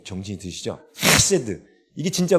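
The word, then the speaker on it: חֶסֶד: 인애를 우리나라 말로 인애로 번역했지만 히브리어로는 헤세드예요. 정확한 발음은 카세드예요. 카세드. 네, 카세드예요. 네, 이래야 좀 정신이 드시죠? 헤세드.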